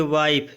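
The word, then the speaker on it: wife: जैसे वाइफ, इसको यहाँ पर ई नहीं पढ़ना, वाइफ।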